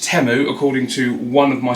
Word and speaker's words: Temu: Classic temu Special turned up and also it's pronounced temu according to one of my subscribers who told